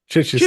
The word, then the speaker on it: Chichester: Mike Maynard all the way from, let me get this right, is it Chichester? Is that how I pronounce it? Chichester in the UK.